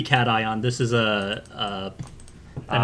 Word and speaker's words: cation: i want to say the way you pronounced caution this episode i thought you were making an aether space joke um but second oh i'm sorry it's supposed to be cat ion this is a uh